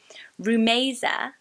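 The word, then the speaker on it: Rumaisa: it oh debt is a place to go rumesa rumesa I thought that was so pretty when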